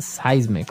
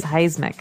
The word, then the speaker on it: seismic: affect us okay so that's seismic activity it's pronounced seismic right seismic seismic okay and uh because of all this